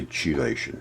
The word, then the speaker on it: chelation: It's spelled with a CH. I say chelation. It's CH, chelation. Let's call it that.